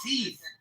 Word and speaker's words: teeth: Brother, it's pronounced teeth. There's no F. There's no F in the word teeth.